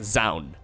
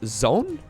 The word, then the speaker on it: Zoun: So I always kind of assumed it would be pronounced as Zone, but apparently that's not correct. Anyways, OU in Dutch would be pronounced as an owl, and it seems like most people are going with something along the lines of Zoun, so I'm not entirely sure. Either way, he is a